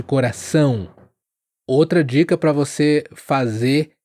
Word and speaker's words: coração: Então, muitos caem no erro de falar coraçon invés de coração.